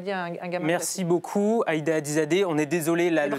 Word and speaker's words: Ayda Hadizadeh: Merci beaucoup, Aïda Hadizadeh. On est désolé, là, le temps a fini. Bravo pour avoir prononcé correctement mon nom.